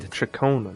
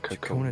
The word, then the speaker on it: Ciaccona: Oh, that's how you pronounce her name. Chakona. Not Kakon.